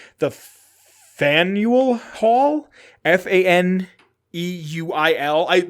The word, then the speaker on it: Faneuil: Faneuil Hall.